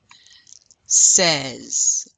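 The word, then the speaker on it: seize: Says. Like, says who? Says me.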